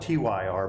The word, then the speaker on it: Tyr: It's spelled T-Y-R, but it's pronounced Tyr.